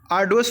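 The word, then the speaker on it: arduous: Synonym बताना है तो आर्डुअस हो जाएगा, आर यहाँ पर साइलेंट होगा, आर्डुअस का मतलब भी होता है हार्ड वर्क, ठीक है।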